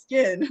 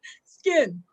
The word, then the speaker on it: Skiin: So Skiin, spelled Skiin, mispronounced sometimes as skin. That's an inside joke, but Skiin.